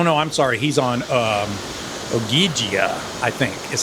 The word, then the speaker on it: Ogygia: He's on Ogygia, I think is how you say it, because he's trapped by this demigoddess named Calypso.